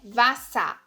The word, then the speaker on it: Wasser: A junção das letras E e R tem som de A. A. Então fica Wasser, Mutter. Então é errado você falar Wasser, Mutter. Não, é Wasser, Mutter, Vater. Sempre que você tem essa junção do E e do R, principalmente no final da frase, vai ter som de A. Wasser, Mutter.